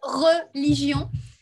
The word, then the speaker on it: religion: Mais Le problème, c'est que ça se prononce religion.